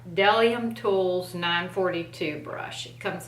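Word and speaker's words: Bdellium: doesn't have any smell this is a bedellium a de i'm sorry i'm so used to saying it wrong to be funny that i can't say it right bellium tools 942 brush it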